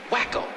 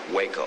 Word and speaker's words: Waco: just being good friends wacko isn't that what they call you no no that's that's um Waco you know with a long a like the town whenever they find you